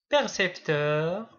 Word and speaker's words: percepteur: Percepteur et précepteur.